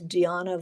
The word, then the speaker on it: Diana: Bazaar, um, who oh, her name was Deanna Vreeland, spelled like Diana Vreeland, who she was very funny, um, and very imperious.